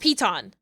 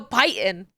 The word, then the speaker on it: piton: A lot of people pick up the thing and they go, they go Python. Like it rhymes with heighten.